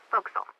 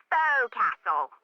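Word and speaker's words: forecastle: ship but it's pronounced fil why is that try pronouncing it like an English sailor with no formal education F Castle fil over time it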